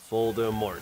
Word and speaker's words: Voldemort: Voldemort. It's got the three syllables.